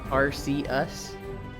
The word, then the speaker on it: Arceus: Arceus is pronounced Arceus.